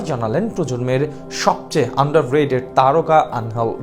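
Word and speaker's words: Ángel: বিদায় নিচ্ছেন আনহেল Di Maria. অবশ্য বাংলা উচ্চারণটা আনহেল, ইংরেজিদের নামের বানানে এঞ্জেল, অনেকে উচ্চারণ করেন অ্যাঞ্জেল নামেই। ডি মারিয়া অ্যাঞ্জেল রূপে হাজির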